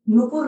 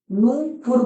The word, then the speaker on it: नूपुर: है according to यू, लेकिन pronunciation में हमने नूपुर बोला ना, तो ना में तो ऊ है और पा में छोटा ऊ है अकॉर्डिंग टू यू। लेकिन प्रोनाउंसिएशन ये चीज क्लियर करेगा कि ये ऊ है और ये ऊ है, नूपुर। क्लियर।